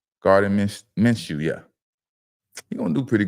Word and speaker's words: Gardner Minshew: Gardner Minshew, yeah.